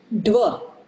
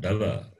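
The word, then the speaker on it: द्व: Dva. Dva. Dva. Dva. It is dva, not dava.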